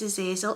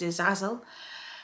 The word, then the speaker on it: Azazel: thank you who is a zazil or a Zazzle I call him a zazil okay but I think the correct pronunciation or the original pronunciation of his name is a zazel but I call him